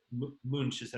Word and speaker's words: Munch: Yeah, and I was going to say that Munch is how you say it, the conductor of the Boston Symphony Orchestra.